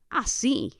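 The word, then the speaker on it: así: of the situation right the word for like that or that way is a see a see spelled a s i with an accent over the I right as is I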